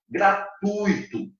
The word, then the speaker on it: gratuito: a gente grava cuidem olha pronúncia dessa palavra gratuito observe bem que o é mais forte o time é fraco não é gratuito e fica esperto é gratuito então você tem de tom